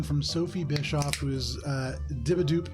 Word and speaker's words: Dibbadoep: Sophie Bischoff, who is Dibadoop on Instagram, spelled not how it sounds. DIBBADOEP. Yeah, that's right. I thought it was Dib Bad OAP for a very long time, Yeah, so if that helps you spell it, there you go.